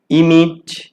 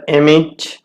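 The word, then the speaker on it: emit: ইমিট বা উচ্চারণ হতে পারে এমিট, নির্গত হওয়া, এমিটেড এমিটেড।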